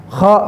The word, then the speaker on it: خ: Jadi usahakan pengucapan kha itu jangan dangkal karena ada di atas ya kha ya. Bukan kha tapi kha.